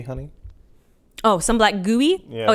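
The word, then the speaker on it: GUI: I should mention that some black gooey, honey. Oh, some black gooey? Yeah. Oh, it's spelled G-U-I.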